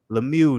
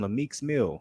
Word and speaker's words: Lemieux: Lemieux, nigga. Lemieux? This nigga was about to call him Lemieux Mill, nigga.